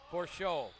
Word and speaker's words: Porcio: Porcio, actually, is how you pronounce it.